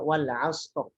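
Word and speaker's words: العصر: Lalu lafaz juga wal 'asr. Wal 'asr. Kenapa dibaca ro-nya tebal? Karena sebelumnya shad, sebelumnya huruf sukun ya, sebelumnya adalah fathah.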